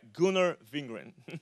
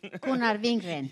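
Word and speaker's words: Gunnar Vingren: Garber gunar I think I'm saying it right gunar vingren gar vingren yes that's right okay they went to theza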